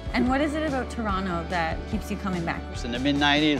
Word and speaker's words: Toronto: to Teo that's it what's the right way to pronounce it I say Toronto okay formal that is